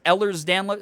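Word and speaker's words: Ehlers-Danlos: i'm getting so many it's pronounced eller's download oh my god wait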